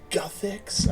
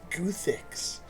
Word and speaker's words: Guthix: Oh, it's pronounced Guthix? I thought it was Guthix.